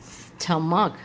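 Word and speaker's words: stomach: हो गया architect okay जैसे कि स्टमक स्टमक सीच में यहां भी आपकी साउंड जो होती है वह क की तरह निकलती है स्टमक है ना ऐसे आर्किटेक्ट आर्किटेक्ट ठीक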